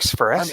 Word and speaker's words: Sparacio: Mark Sparacio.